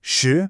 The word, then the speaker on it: 十: On the other hand, shi, meaning 10, is the 2nd tone. It rises smoothly, almost like you're asking a question.